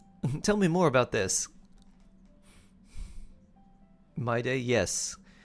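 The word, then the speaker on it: Mydei: My day, yes. M-Y-D-E-I, but it's pronounced like my day.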